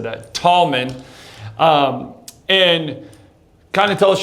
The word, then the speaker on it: Tallman: Like we have Tallman here today.